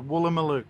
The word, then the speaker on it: Woolloomooloo: Pronunciation, Woolloomooloo. Woolloomooloo.